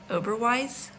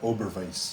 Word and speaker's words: Oberweis: Oberweis? Don't they pronounce it W as a V? Oberweis. Oh, Or- Oberweis.